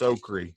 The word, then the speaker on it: okra: not pronouncing okra right it's not okra it's okri O you got to